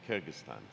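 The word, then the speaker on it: Kyrgyzstan: Kyrgystan, is that the right way to say it? Kyrgystan.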